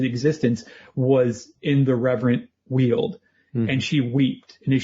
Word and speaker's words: Weald: It's reverent is the word, and Weald is correct.